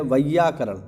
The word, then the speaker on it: वैयाकरण: जो व्याकरण को जानता है वो है वैयाकरण। ध्यान रखना इसका उच्चारण, वैयाकरण।